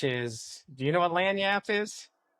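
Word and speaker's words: lagniappe: Lyap, which is Do you know what lanyap is? Spell it.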